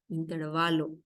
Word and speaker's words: intervalo: ejemplo pero en realidad la palabra es intervalo intervalo se carga la voz en la a intervalo y no intervalo